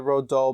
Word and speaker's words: Roald Dahl: No, but I thought his name was Ronald for a really long time. No, I think it's Roald Dahl, I think is how you say it.